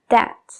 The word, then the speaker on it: debt: La otra palabra es la palabra deuda, que sería debt. Debt. La B viene justo antes de la T y tampoco la pronunciamos.